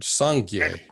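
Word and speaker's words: སངས་རྒྱས: These two syllables, Sang-Gye, which literally means perfect purity and blossoming, or completely pure and totally blossomed, together form the Tibetan word Sangye for Buddha.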